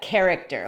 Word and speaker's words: character: Esa palabra se pronuncia character, un personaje.